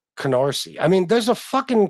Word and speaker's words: Canarsie: It's not like I'll never be able to understand why a simple name is that hard to pronounce. Like Canarsie.